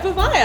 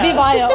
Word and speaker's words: VIVAIA: So I just wanted to ask you, how do I actually pronounce VIVAIA or VIVAIA? Yeah, VIVAIA. VIVAIA.